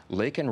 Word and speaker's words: Laken: with President Biden, and he mentions Laken Riley's name, though he mispronounces it, says Lincoln.